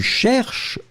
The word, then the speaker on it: cherches: Or then, si tu cherches une boulangerie, be careful, Victoria Jacques, you don't pronounce it, but you should put tu cherche with the S in the end, hein?